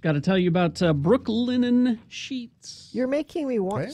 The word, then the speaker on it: Brooklinen: I need to say it right so it doesn't sound like I'm saying Brooklyn. That's confusing because the founders are from Brooklyn.